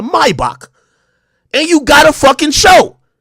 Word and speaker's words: Maybach: because you got a Maybach or let me say it correctly a Maibock and you got a